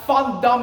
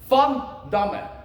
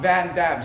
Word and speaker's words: Van Damme: me and it's pronounced fond D with a f like a fanboy fun D not vanam so vanam be lying